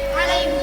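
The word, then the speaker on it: عليه: Hati-hati, "hu" harus dibaca pendek, " alaihu", bukan "alaihi". Berhati-hatilah untuk membacanya secara singkat.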